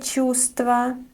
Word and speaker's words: чувство: For example, сильное чувство, неприятное чувство. You might have noticed that this word has 3 consonants together, which can be tricky to pronounce. But in this word, we don't pronounce this v.